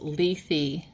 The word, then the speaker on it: Lethe: Oh my gosh, so this is actually pronounced Lethe.